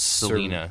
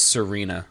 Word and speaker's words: Serena: I want to say her name is Selena. No, it's Serena. Serena. Oh, of course. Old LR confusion.